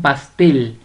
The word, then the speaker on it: pastel: Vamos con pastel. Pastel tiene el acento prosódico en la última sílaba o la mayor fuerza de voz en la última sílaba.